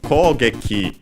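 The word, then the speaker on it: 攻撃: Kogeki means attack. Let's check its accent should be unaccented. Yes, it's unaccented, so yes, attack, assault, raid, offensive, also extended meaning as in criticism, condemnation, and so on.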